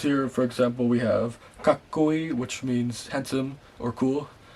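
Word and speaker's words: かっこいい: So the words here, for example, we have kakkoi, which means handsome or cool, and it means, yeah, you could see there the tsu. You don't pronounce it as tsu.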